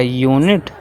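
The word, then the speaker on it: unit: अब देखिए दोस्तों यहाँ पे हमारा लिखा गया यूनिट, जो कि दोस्तों हमारा प्रोनाउंस कर रहा है दोस्तों यहाँ पे यू से।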